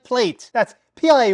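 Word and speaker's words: Playte: Well, then you might like Plate. That's pl a y t e pronounced plate, not platey, plate.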